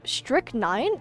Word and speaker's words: strychnine: Oh, strychnine? That's how you pronounce it?